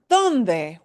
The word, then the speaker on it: dónde: Here we've got our word, donde, where, donde, donde. Donde. Look at what my mouth does. Donde. I smile at the end.